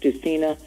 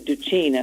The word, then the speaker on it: Dusina: A lot of people want to spell it with a C. So I'll say to people, they want to spell it D-U-C-I-N-A because it's pronounced Dusina. So it's the Italian thing. And in Italy, it's actually Dusina, and that would confuse people even more. So I say it's Du and C.